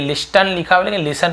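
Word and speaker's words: listen: तुम ही मेरी यह लिसन पढ़ेंगे टी साइलेंट होता है लिखने हैं लेकिन पढ़ने नहीं है साइलेंट लेटर है तो मैं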